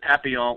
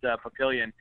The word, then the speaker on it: Papillion: Actually, I'm in Papillion. I think you guys said Papillon, which is the correct way to spell it and pronounce it, but we, in Nebraska, we're just Papillion.